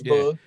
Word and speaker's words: Bug: Bug. Yeah, Bug. You said it right. It's Bug.